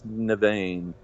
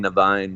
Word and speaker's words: Nevane: I just found it's Nevane. Nevane, yeah, I say it wrong all the time. I kept saying Nevine myself.